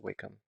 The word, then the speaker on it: Wacom: that sounds pronounced now there's some debate on exactly how it's pronounced I pretty sure it's wake up because I think I heard one of the actual representatives from wake um and I think they said we come that's how they pronounced so I'm just adding